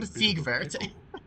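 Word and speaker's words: Siegward: I am Ziegvert of Katarina. I just realized the fact that it's not pronounced ward. It's from Sigvert.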